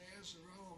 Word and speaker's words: Azzarello: You said Azzarello rhymes with Jolly Fellow, you got it.